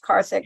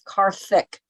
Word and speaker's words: Karthik: got got this it's Karthik like thick with a Thanksgiving or theocracy or thought I haven't I had